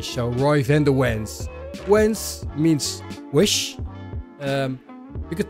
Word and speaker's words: Wens: bit like American show Roy's in the winds wence means wish um you could try to do